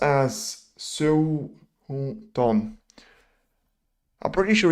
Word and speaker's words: Xiao Guodong: It's Xiao Guodong.